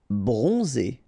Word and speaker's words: bronzé: Bronzé, so O-N, on, and then Z, it's really pronounced like Z.